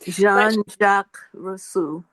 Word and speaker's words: Jean-Jacques Rousseau: Jean-Jacques Rousseau.